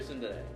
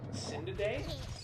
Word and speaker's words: tsundere: It's a Japanese syllable. Okay. Sindade? Tsundere. Sundade. De? De. Sundade? With R. Like you roll your R basically.